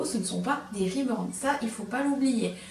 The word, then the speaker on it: reborn: pas comme ça s'écrit ça se prononce reborn en anglais déjà on le dit